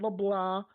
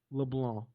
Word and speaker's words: LeBlanc: So for everybody out there that's wondering, to pronounce my last name, it's not LeBlanc, it's not LeBlanc, it's not LeBlanc, it's just LeBlanc.